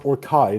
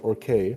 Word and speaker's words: Orcai: It's actually pronounced Orcai, not Or Oh, my bad.